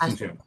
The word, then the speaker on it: Asunción: And say it, I feel like I'm not pronouncing it right. Asunción? Asunción? Asunción, Asun- Asunción, Okay, I got it.